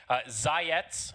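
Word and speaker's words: Zayac: the two that we really know it's blizzy zyetz is how you pronounce that name the z-a-y-a-c i had a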